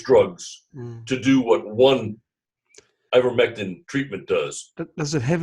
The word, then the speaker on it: Ivermectin: medical system would rather sell you 5 or 6 drugs to do what one ivermectin treatment does.